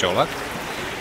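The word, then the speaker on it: Čolak: yeah i'm jolok this is how you pronounce my last name so it's not cola it's jollof i'm from croatia but i'm the current world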